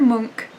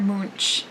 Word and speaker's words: Munch: about the artist so edward monk not pronounced edvard munch which is how i